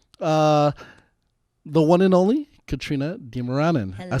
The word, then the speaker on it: Dimaranan: Here with my beautiful co-worker, the one and only Katrina Dimaranan.